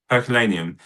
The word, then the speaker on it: Herculaneum: And you know, and is it how do you pronounce the one before it? Herculaneum.